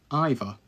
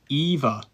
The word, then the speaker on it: either: Sometimes you might say either. Either. Either. Depends on the sentence, to be honest. On this sentence, I think it's more appropriate to say either. But either is spelt the same way.